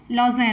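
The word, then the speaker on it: Lausanne: इसका मुख्यालय स्विट्जरलैंड के लॉज़ेन में है। आपको इंग्लिश में लिख देते हैं और ये क्लियर हो जाएगा इसका प्रोनाउंसिएशन।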